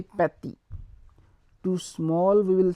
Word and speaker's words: petit: And to small we will say petit. To small we will say petit. P-E-T-I-T, petit. So F will be pronounced similar, but we will put some pressure on saying that, like F, F.